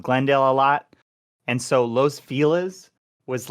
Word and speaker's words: Los Feliz: I know it's pronounced Los Feliz.